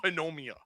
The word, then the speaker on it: pneumonia: I call it pneumonia. The P is silent, man.